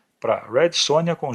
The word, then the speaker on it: Sonja: Ela tem uma origem ucraniana e por isso que seu nome depois escrito com J, em vez de Y, é pronunciado como Sônia e não como sonja.